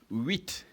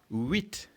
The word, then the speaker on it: huit: 8 in French is huit. Again, huit. And how do you spell huit? It is H, which of course is silent in the pronunciation.